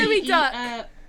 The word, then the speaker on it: geoduck: It's It A is a gooey- gooey duck. Yes. Which they is how are. Geoduck is actually pronounced, Pokemon Yes.